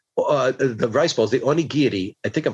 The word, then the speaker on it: onigiri: is that like uh the rice balls the onigiri i think i'm pronouncing it right on nikiti yes this is like this is li i